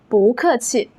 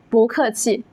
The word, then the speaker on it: 不客气: When 不 comes before a four-tone syllable, it changes to a second tone, 不. That's why we say 不客气, 不客气.